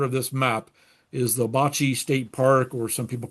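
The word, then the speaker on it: Ouabache: this map is the Bocce State Park, or some people call it Wabash State Park. It's actually the French spelling of the Wabash River.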